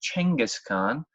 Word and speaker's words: Genghis Khan: I should also point out that if you say Genghis Khan, you have actually been saying it wrong. That sound G didn't really exist in ancient China at the time. So it should actually be Chenghis Khan.